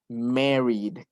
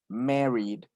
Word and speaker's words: married: Entonces, el verbo quedaría married. Married. No es married, no. Married. Es como si siguieras pronunciando Mary, pero el último con una D.